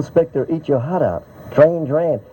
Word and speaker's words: Duran: That is, that's Duran Duran's Wall of Sound, isn't it? Oh. Phil Spector, Eat Your Heart Out. Duran. I think that's the pronunciation, isn't it? Duran. That's what the girls said outside EMI.